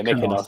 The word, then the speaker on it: Mykonos: I don't know how to pronounce it. Did I say it wrong? Yeah, Mykonos.